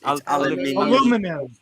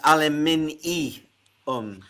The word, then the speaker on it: aluminium: It's aluminum. Aluminum foil. I understand. It has got an in it. It's aluminium.